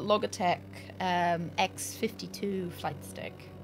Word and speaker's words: Logitech: gets my ass for using the hard G for log te it's I I know it's supposed to be Logitech but I just started